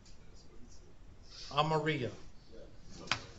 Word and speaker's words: amarillo: Amarillo.